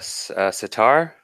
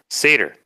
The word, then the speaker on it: satyr: caused a lot of trouble gregarious is a sitar how do you say it sooner say dirt-eater ah thank you I knew I had it wrong satyr with the goat feet legs and playing the